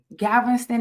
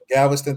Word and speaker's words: Galveston: Well, I'm definitely uh Gavston, Am I saying it right, Jeezy? Galveston, Texas.